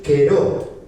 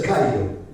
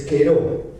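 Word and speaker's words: καιρό: no es cairo, es queró. ¿Ya? ¿Por qué? Porque en el griego las las palabras las las siglas, por decir la la alfa y la yota se leen como lailon, como la e.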